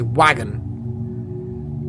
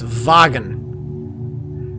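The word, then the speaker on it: Wagen: be vagan of course most people who are speak English who have no knowledge of other language they'll say wagon it's vagon so how do you pronounce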